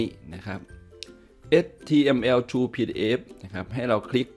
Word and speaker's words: html2pdf: คลิก เข้า ไป ที่ ลิงก์ นี้ นะ ครับ html True pdf นะ ครับ ให้ เรา คลิก ไป ที่ ลิงก์